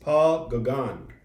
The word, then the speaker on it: Paul Gauguin: do you know his name paul it's pronounced paul gagan but it's spelled he's from france and he lived like 130 years ago uh so that's that's him right there paul gagan and let's see what was he known he